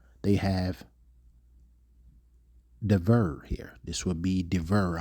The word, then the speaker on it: dabar: The Hebrew word there is dabar. The more modern Hebrew, they pronounce it davar.